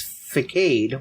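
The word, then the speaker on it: façade: Even the pronunciation is facade, which... Facade. You did the exact same thing that we were talking about, though, so thanks for the demo, Jushiro. Yep. The problem is they don't put the little symbol under the C. They don't. The little French thingy.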